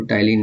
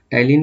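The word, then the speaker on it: ptyalin: Enzyme के द्वारा, तो टाइलिन एंजाइम के द्वारा होता है। टाइलिन को इंग्लिश में ऐसे लिखते हैं, टाइलिन, यहाँ पी साइलेंट रहता है, इसको टाइलिन बोलते हैं।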